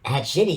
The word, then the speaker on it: Hadchiti: Hadchiti? Hadchiti, you got it. Yeah, because you said it's the past tense of diarrhea.